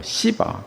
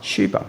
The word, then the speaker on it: 스바: 그래서 보면 스바 영화 되는데 뭐 어떤 영화에 보면 뭐 시바라고도 하고 또 어떤 때는 또 쉬바라고도 하고이 발음이 그렇습니다. 스바 뭐 시바 쉬바 이렇게 말하고 있습니다.